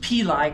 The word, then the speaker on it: pili: It's pronounced pili because I took 3 years of Latin with Mrs. Smith. And if you pronounced your eyes as an I, you got a steel-edged ruler on the knuckle. In Latin, the I's are pronounced as E's. And there's no soft sounds in Latin, so it's always hard, and it's always with an I.